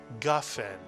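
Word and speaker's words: גפן: First syllable with the letter gimel, the galloping gimel. Ga is correct, Mitsuyan. And the second syllable with the fe. Fen is right, Mitsuyan. Put the word together and you get gafen.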